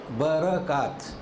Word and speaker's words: برکات: آسمان سے، اللہ کا حکم ہوتا ہے۔ تو دو چیزیں اس میں سمجھنا ہے، توجہ دیجیے۔ ایک تو اس کا صحیح تلفظ برکات، تو اللہ تبارک تعالیٰ